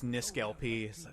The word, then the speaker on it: NiskelLP: it's torque okay torquay like people when they pronounce my youtube name it's niskalp okay okay old man